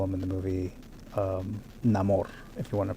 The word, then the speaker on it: Namor: narco Mexico to be specific and he plays Neymar or as they call him in the movie um Namor if you want to pronounce it like that the fish man so